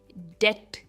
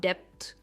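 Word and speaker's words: debt: ये है डेट, इसमें बी साइलेंट है, हम कहते हैं डेट एंड नॉट डेप्थ, इट्स डेट।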